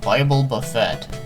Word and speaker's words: Bible Buffet: at nes game called Bible Buffett wish ironically rhymes with Boba Fett okay I had to